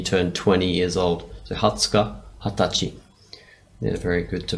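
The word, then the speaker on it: 二十日: I have Hatsuka, another good bit of a revision. It's the 20th day of the month. So notice we've got a bit of a different pronunciation with this guy.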